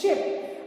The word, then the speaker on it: ship: Sheep मतलब भेड़ and this is ship. I've seen students pronouncing the same, so please don't get confused. This is ship while SHEEP is sheep. So there is a difference in the pronunciation.